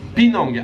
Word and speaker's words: Penang: Ça s'écrit P-E-A-N-G, mais ça se prononce ici Penang.